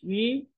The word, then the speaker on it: ri: Today's case is the Chinese syllable yi. Because of its unique nature, let's learn it as one single unit. The shortest path to reach yi is from shi.